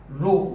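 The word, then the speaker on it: rho: ये जो, और इसको हम प्रोनाउंस करते हैं क्या, रो, रो करके इसको प्रोनाउंस करते हैं।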